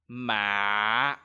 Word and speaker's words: mạ: In this tone, you have to try to lower your voice as much as possible. For example, ma.